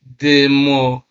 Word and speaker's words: democratic: Then democratic. You can see stress placed on cratic there. Democratic. All right.